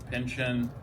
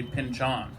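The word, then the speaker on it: Pynchon: into the mode of pinchin who I guess you should actually actually say pinchon right or sure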